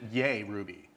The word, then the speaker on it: JRuby: with the j uh most european countries will pronounce it yay ruby yeah which i think